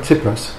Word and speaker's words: Tsipras: So, just your personal perspective on your Prime Minister Tsipras, is that how you pronounce it? The guy Tsipras. Tsipras.